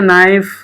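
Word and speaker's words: knife: नाइफ, है ना, नाइफ। जैसे पढ़ते वक्त के को साइलेंट रखते हैं, वैसे यहाँ भी के को हम लोग साइलेंट रखेंगे।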